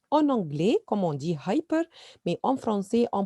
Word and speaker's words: hyper: Alors, hyper, c'est le même en anglais, comme on dit hyper, mais en français, on prononce hyper, hyper, hyper.